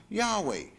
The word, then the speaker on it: Yahweh: with those four consuls y HWH which is pronounced Yahweh but see we don't get this in church